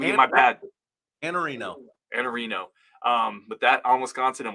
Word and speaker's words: Iannarino: On Wisconsin, Iannarino. I mispronounced the name again. My bad. Iannarino.